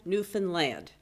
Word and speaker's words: Newfoundland: So if you don't know where and it's Newfoundland, as they tell us, understand Newfoundland. Anyway, that's how it's said.